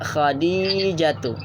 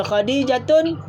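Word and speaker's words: خديجةُ: Yang betul ejaannya Khadijatu. Khadijatu. Jatuh. Bukan jatun. Kalau Khadijatun salah. Sebab apa? Sebab nama perempuan. Kita ingat tu je kaedah dia.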